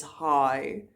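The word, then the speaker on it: haai: So after that we have raai, which is guess, and after that we have hi, which you pronounce like saying hi to someone in English. It's hi. That's a shark.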